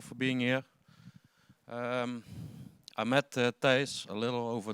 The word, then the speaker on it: Thijs: I think the most persons outside of the Netherlands that see my name think like how it is pronounced. Yeah, it's like Thijs.